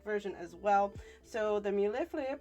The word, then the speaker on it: mille-feuille: So the mille-feuille, pronounced mille-feuille, usually features 2 or 3 layers of puff pastry filled with custard cream and sliced strawberries.